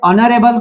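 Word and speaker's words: honorable: जैसे an honest man, एन हॉनरेबल मैन। यहाँ पे ऑनरेबल को देखो, ऑनरेबल भी हम लोग ओ से स्टार्ट करते हैं क्योंकि एच जो है वो क्या है, साइलेंट है।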